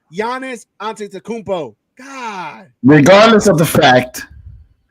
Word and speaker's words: Giannis Antetokounmpo: You're saying the pronunciation of the players right. It's Giannis Antetokounmpo.